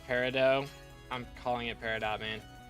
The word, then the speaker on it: Peridot: Technically, it's pronounced Peridot.